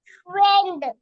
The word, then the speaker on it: friend: তারপরে became, ga, u, the wood, ga, wood, good, fa, la, fra, e, I silent হবে, এ হবে। a, the end, friend, হ্যাঁ আমরা ফ্রেন্ড পড়ছিলাম, good, very friend, good, ঠিক আছে, থ্যাংক ইউ, তুমি ভালো পারছো।